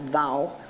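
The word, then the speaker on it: vav: it looks like vogue it's pronounced vowel in Hindi or in the north in other areas bow leave Bowery there's just like so many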